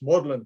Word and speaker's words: Magdalen: That's not a mispronunciation. That's what they call it. It says Magdalen there, but it's Magdalen, pronounced Magdalen College, and that's the coats of arms of Magdalen College.